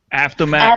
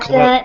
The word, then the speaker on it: Avtomat: activist by the name of, I can't even pronounce his name. Lori, help me out here. Avtomat Avtomat.